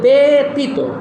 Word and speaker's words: ব্যতীত: ব্যতীত হবে ব্যতীত, যেমন ব্যতিক্রম হবে ব্যতিক্রম।